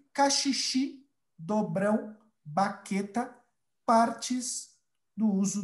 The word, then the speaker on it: caxixi: não, também usado na prática da capoeira, e caxixi, dobrão, baqueta, partes do uso do berimbau. Ok? Como está a prática da pronúncia de vocês?